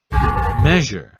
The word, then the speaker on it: measure: It's je, like the French je suis or je sans frontières. So it's mais je.